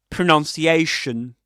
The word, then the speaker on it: pronunciation: Pronunciation. Pronunciation. Right? Pronunciation. That's a double stressed word.